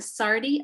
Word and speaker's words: SARDI: Nair leads an algal production group and manages the Sardi Aquatic Sciences Environment and Analytical Laboratories located at the Aquatic Sciences Division of the South Australian Research and Development Institute.